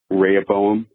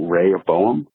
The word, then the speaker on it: Rehoboam: growing up in church we were referred to Raya Boehm and Jeroboam and that's how I remember saying it ray or Boehm Jeroboam now granted this was a said super